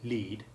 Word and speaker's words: lead: When the word has the long E1 sound, lead, it always refers to